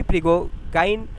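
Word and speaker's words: Prigogine: अगला पास्टुलेट है the Curie प्रिगो, ये नाम देख लीजिए थोड़ा सा, प्रोनाउंसिएशन इसका क्या है? क्यूरी प्रिगोगाइन प्रिंसिपल इसको बोलते हैं।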